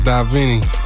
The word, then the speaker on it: Divine: And then we got Divine up in the building as well. Yeah, pronounced Davini.